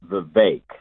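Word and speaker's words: Vivek: his name is pronounced the vague it rhymes with cake you have a vague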